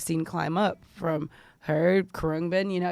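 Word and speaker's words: Khruangbin: I thought it was Karangbin. First of all, Kurungbin.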